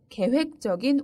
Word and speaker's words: 계획적: 계획적으로 생활합니다 건강할 위에서는 계획적인 운동이 중요합니다 그 범죄는 매우 계획적 이였습니다 반대말은 be 를 붙여서 b 계획적 이라고 사용합니다 그리고 발음도 주의하세요 계획적 계획적 이라고 발음합니다 다음 단어는 포 율 적입니다